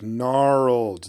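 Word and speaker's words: Gnarlid: on Twitter because we he said that we pronounced narid pack wrong when we were talking about it in on one of the podcasts or whatever and he's just like gnarled there's no I and I'm like there's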